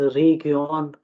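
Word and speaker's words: Region: है, TION को हम, लेकिन जर्मन में जो है इसको CHEN। सियोन, ठीक है, सियोन इस तरह से करके प्रोनाउंस करेंगे, ठीक है। री, फॉर इंस्टेंस रीगियोन और रासियोन, ठीक है, रासियोन और रेगियोन, ठीक है, ION वाला साउंड जो है, ठीक है।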